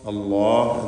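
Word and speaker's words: الله: അല്ലാഹ് എന്ന ഇസ്മുൽ ജലാല അതിലുള്ള ലാമിനെ തഫ്ഖീം ചെയ്ത് തടിപ്പിച്ച് ഉച്ചരിക്കേണ്ടതാണ്.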